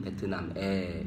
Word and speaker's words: 베트남의: 선생님께서는 베트남의 베트남의라고 쓸 때는 의라고 쓰지만 발음은 베트남에 이렇게 하죠.